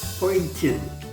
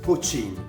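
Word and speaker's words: poitín: Ça s'appelle Poitin ou Pochin. Il y a deux prononciations qui se disent.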